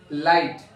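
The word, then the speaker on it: light: और जो आई को हम क्या लिखेंगे, इस यहाँ पे जी और एच जो है वो साइलेंट है। ओके, तो इसका हम लिख देंगे, इसको ये आएगा, इसका उच्चारण आई आएगा। तो आ का तो हम यहाँ पे मात्रा लगा देंगे, और जो आई बची है उसको लिख देंगे। तो ये हो गया लाइट।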